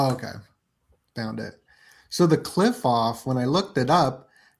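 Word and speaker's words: Qliphoth: Yeah, it's like Q Q U Q L I P H O T H. It's cliff off. Oh, okay. Found it. So the cliff off, when I looked it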